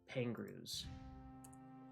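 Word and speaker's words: Pengroos: They're called uh pangrus. Uh, so the pangruas, their name is spelled P E N G R O O S for what anyone would think.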